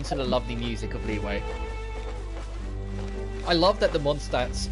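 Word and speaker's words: Liyue: The only reason I remember Leeway is because it's spelt weird. It's spelt with a Y, and it's pronounced with a W.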